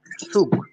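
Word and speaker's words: Zug: বলি গেম সু প্লাস গ ইকুয়াল কি আসবে সুগ সুগ সুগ সেট সুগ সুগ সুগ মিন্স ট্রেইন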